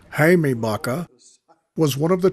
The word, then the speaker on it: Jaime: Jamie Baca, or properly pronounced in Spanish, Jaime Baca, was one of the 2 waist gunners of the crew.